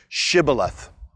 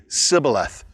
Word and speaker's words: shibboleth: to pronounce the word shibboleth shibboleth is pronounced with an sh but the people of ephraim have an accent and they can't make the sh sound so they end up saying sybileth and when they do